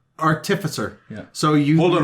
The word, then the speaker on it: artificer: I'll say it again artificer our Tiffa sir yeah so you hold on hold on artificial it tracks yeah I agree that's what properly say putting the wrong emphasis on the wrong syllable um according to whose